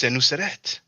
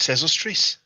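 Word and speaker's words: Senusret: It's Senuseret, but the Greeks pronounced it Sesostris.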